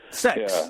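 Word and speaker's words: CeX: C you do have C EX in England sex the sex shops the sex hops yeah that's how it's pronounced guys that's how it's pronounced Computer Exchange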